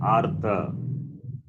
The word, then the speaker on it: artha: Whereas here, I'm giving like in the word artha. So here, repa is pronounced first. Pronounced first means pronounced after the vowel a.